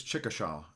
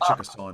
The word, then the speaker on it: Chickasaw: how you pronounce it well traditionally it's chika shah but we say chickasaw now yeah okay okay and